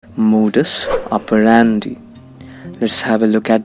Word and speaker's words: modus operandi: first you'll find that the primary accent falls on the syllable that's pronounced rare which means it will sound louder than the other syllables modus operandi modus operandi it means a particular